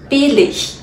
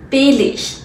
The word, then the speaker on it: billig: 要发 ich, ich 的这种音，Billig, Billig, Farbig, Farbig。